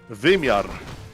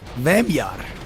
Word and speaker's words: wymiar: How do you say dimension in Polish? Wymiar. Oh, it's not dimensiona or something? No. Wymiar.